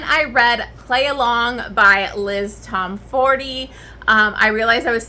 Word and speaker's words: Liz Tomforde: it on audiobook and it said Liz Tomforde, I was like, oh shit. So that's the correct way to say her name.